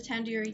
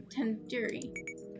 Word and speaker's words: tandoori: at least recognize the tandoori chicken you're saying it wrong wait really tandoori tandoori the do is like in isn't like in door it's like in doodoo head are you five years